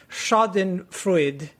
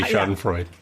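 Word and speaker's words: Schadenfreude: we all love sh Shen fruid wow that pronunciation sucked dude you could just say sh and Freud I don't know German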